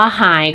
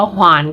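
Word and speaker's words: 还: ต่อ มา หาย ค่ะ หาย ใน นี้ จะ มี การ ออก เสียง 2 แบบ อย่าง ที่ เขียน ให้ พวก เรา ดู เลย ก็ คือ อ่าน ว่า หาย ก็ ได้ หรือ อ่าน ว่า ขวาน ก็ ได้ แต่ ถ้า กรณี การ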